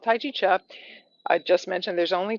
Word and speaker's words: Chih: Chi called Tai Chi Cha. That third little word is pronounced cha, like chuck wagon.